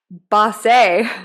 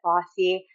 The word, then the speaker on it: Bosse: it's pronounced Bosse, Bosse, yeah. and you had a response to that with Yeah. the Bosse. Yeah. Yeah. Can you share? Yeah, my whole childhood, I would cringe every time my name was called. I would wish it wasn't called because they always mispronounced it. They always said bossy.